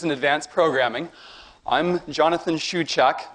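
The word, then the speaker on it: Shewchuk: I'm Jonathan Shuak. My last name is pronounced shuak.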